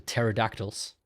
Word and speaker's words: pterodactyl: Like the pterodactyls. You know. Why can't you hear a pterodactyl go to the toilet? Because the P is silent.